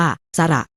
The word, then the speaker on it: สระ: แอ่ง น้ำ ขนาด ใหญ่ สระ อะ อ่าน ว่า สะ หมาย ถึง เสียง ตลาด